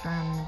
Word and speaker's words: Seine: I love how the river Saint floats right through the heart of Paris. I think it's Seine, but whatever. If we were going by actual French pronunciation.